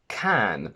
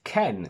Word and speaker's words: can: flash is for cameras the verb is can not ken because ken is barbara's boyfriend beg bug bag said